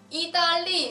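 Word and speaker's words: 意大利: 보시면요, 이달리 샹라라고 되어 있어요. 이달리 샹라. 여기서 이달리라는 앞에 세 글자예요. 이달리는 이탈리아라는 단어입니다. 이탈리아 그 영어로 했었을 때 발음과 비슷하죠.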